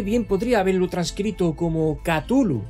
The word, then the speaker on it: Cthulhu: si por Lovecraft fuera, preferiría que se pronunciase como Cthulhu, con las sues largas y profundas, que se sumaría a todas sus anteriores recomendaciones.